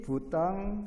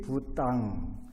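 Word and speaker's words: Buddhaṃ: 따띠암삐 부땅 사라낭 가차아미, 따띠암삐 담망 사라낭 가차아미, 따띠암삐 쌍강 사라낭 가차아미. 여기 영어로 보면 M자 밑에다가 점 찍은 것은 N으로 발음하고 그냥 아무것도 없는 것은 M으로 발음해서 따띠암삐 부땅 사라낭 가차미 따띠암삐 담망 사라낭 가차미.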